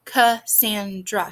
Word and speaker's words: Cassandra: has two syllables um my name is cassandra ca sandra has three syllables so those are the